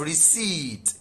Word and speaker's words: receipt: We have receipt. P is silent.